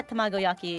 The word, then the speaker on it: tamagoyaki: Did I pronounce that at all correctly? Yeah, tamagoyaki.